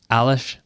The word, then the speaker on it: Aleš: very much Nathan and great job pronouncing my name you're very lucky that I have spent a little bit of time in that part of the world and I know at that little hat on the sea it's supposed to